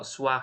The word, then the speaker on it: soir: Jadi misal kalau soir ini kan jadi kalau kita eja jadi SWAR gitu ya.